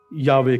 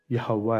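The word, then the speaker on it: Yahweh: लेकिन असल जो है वो यहोवा है, ये यावे है।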